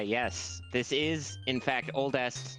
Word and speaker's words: Oldeste: again oldest you're like you're thinking Z you're pronouncing it wrong that's so l no it's oldest 100% but it's a short